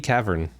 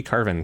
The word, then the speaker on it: Cavern: It's Creepy Cavern, to which I used to pronounce Creepy Carven for some reason.